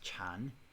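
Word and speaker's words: 禪: character there after diana which is pronounced chan um is the same chinese and like the chan school of buddhism chan meditation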